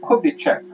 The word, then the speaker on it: Kubitschek: Yeah, I think the S is silent. So Kubitschek, elected president by an alliance of the two parties set up by Vargas, Partido Trabalhista Brasileiro.